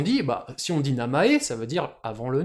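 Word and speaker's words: 名前: le nom le prénom ce mot on aimerait bien le prononcer maisen en lecture sinjponaise mais non on va le prononcer Namae tout en lecture purement japonaise pourquoi parce que en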